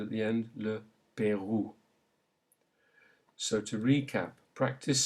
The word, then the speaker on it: Pérou: However, if it combines to make OU, then the sound it makes is OU, as in le Pérou. Le Pérou. Notice the OU sound at the end. Le Pérou.